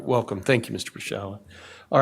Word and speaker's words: Pershala: My name is Pershala, Wellborn Sullivan McIntooley, registration number 40357, and I will be presenting oral argument on behalf of Respondent Extraction Oil and Gas.